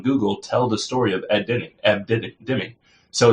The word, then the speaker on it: Deming: Or I'm even saying his name wrong. Ed Deming. I was putting in ends there.